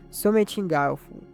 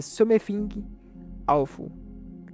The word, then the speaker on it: Something Awful: A teoria mais aceita diz que surgiu em um fórum da internet, Sometingaufu. Como eu falei, meu inglês não é dos melhores. Eu acho que a pronúncia certa seria Something Awful, criada por usuários conhecidos